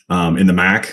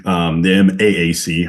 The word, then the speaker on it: MAAC: having played at Niagara in the MAC, the MAAC, I want to make sure I stress the second A.